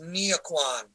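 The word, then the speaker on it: Nghĩa quân: In Vietnamese, that's pronounced Nghia Quan.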